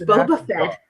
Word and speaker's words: Boba Fett: a coincidence Boba Fett was just oh it's Boba Fett hmm it's Boba Fett okay so I said